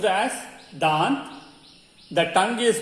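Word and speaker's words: दाँत: The teeth is pronounced as dant.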